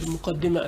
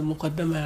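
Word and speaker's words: مقدمة: So both are there, Muqaddima and Muqaddama, and both can be pronounced, but from different perspectives.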